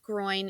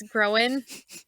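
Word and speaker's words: Gróin: Then you have the Sons of Groen, which is spelled groin. It's not pronounced that way, just so you know. It's Groen, and his sons are Glowin and Owen.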